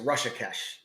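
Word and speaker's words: Hrishikesh: Ritesh Patel said the H is silent. Damn it. So it's just Rushakesh.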